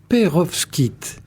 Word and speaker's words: pérovskite: Alors ce ce sujet ce sont les Perovs Kit. Merci Jean-Louis, je te remercie de l'avoir dit. Alors c'est un nom difficile à prononcer qui s'écrit aussi avec un V et un S avant le K I.